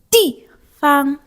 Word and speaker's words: 地方: 地方. Remember how I said you do not have to pronounce it heavily if it doesn't have a tone on top.